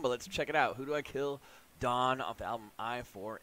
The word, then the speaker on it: Hudu Akil: weight skip uh it's from who do i kill pronounced who do i kill uh the name of